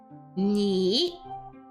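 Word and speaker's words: 你: So for example, ni uses the third tone as seen here, okay?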